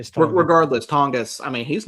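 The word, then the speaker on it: Tonges: The hell that Jake is it Jake Tongus?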